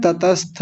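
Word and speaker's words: तत्स्थ: गलत होता है तत्थ कुछ लोग बोलते हैं ततस्थ ततस्थ थोड़ी है तत स्था त और आधा स दोनों को साथ ले लेंगे ततस्थ और आगे है तदन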